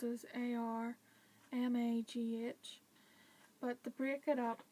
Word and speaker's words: Armagh: And then you've got Armagh, but it's spelled as A-R-M-A-G-H. But to break it up, you would pronounce it as the letter R, then Ma as in M-A, so you'd say Armagh.